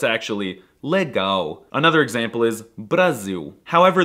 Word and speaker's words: legal: weren't calling him Lauren the L is also quirky because it's often pronounced as a w like in the word legal well it looks like it should be pronounced legal but it's actually let